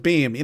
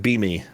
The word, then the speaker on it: Beme: Oh, I thought that was supposed to be like Beamy or something. Nah, it's called Beam. Just Beam. Okay. It does make more sense to call it Beamy.